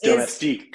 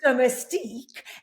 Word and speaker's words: Domestique: So to use Domestique, and I believe I pronounced it incorrectly initially, so it Domestique. is Domestique, and I love it.